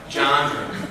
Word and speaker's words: genre: I was always saying the word wrong, apparently. But genre.